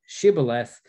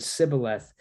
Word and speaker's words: Shibboleth: "Then said they unto them, say now, Shibboleth, and he said Sibboleth, for he could not frame to pronounce it right." So the test of fellowship was an issue of how you pronounce one word. And actually, when it boils down to it, it's one letter in one word. Right? It's the letter H, and they couldn't pronounce it right.